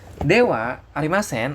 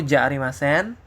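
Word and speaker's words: ではありません: kalian perhatikan di sini walaupun ini dibac Dewa arimen ya tapi penulisan wnya digunakan pakai huruf H tuh ya kan hati-hati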